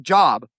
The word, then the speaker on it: Job: It's spelled Job, like job, but it's a Okay. name, and his name is Job.